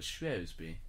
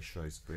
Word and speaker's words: Shrewsbury: the shoes you know so maybe posh people call it schwesby yes and you know we luke and i say shrewsbury i mean yeah but